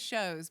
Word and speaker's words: Shows: last name correctly how many times do people mispronounce that when you're out playing in places and stuff really yeah it always shows but it looks like show shows right and